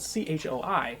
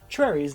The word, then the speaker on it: Choi: her surname Chui now it's spelled c-h-o-i so a lot of people will say Choi but in Korean it's pronounced Trey so definitely don't call